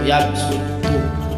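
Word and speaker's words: يبسط: Sebab-sebab digantinya huruf shad dengan sin pada kedua lafaz tersebut karena mengembalikan pada asal lafaznya, yaitu lafaz yabsutu. Itu ada tanda kecil, tanda sa, maka dibacanya itu yabsutu, digantikan ke asalnya.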